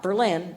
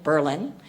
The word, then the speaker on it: Berlin: I think I'm pronouncing it the way people from Wisconsin pronounce it. Not Berlin, Berlin, Wisconsin.